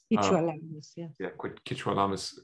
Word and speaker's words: Quechua Lamas: was raised, as well as the indigenous community, Kichwa Lamas. Am I saying it right? Kichwa Lamas? Kichwa Lamas community.